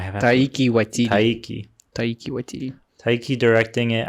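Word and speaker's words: Taika Waititi: Freaking, however you pronounce his name. Taiki Waititi.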